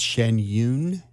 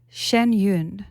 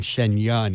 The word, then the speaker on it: Shen Yun: you I realized that I perhaps have been pronouncing it incorrectly it's Shen Yun Shen Yun Shen Yun okay I'm from Finland so my my my